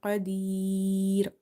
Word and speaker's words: قدير: Qaf is heavy, okay, and ya is here madda, and the last letter is also silent. So here we will apply madde arid lis sukun rule. So you will stretch up to 3 alif.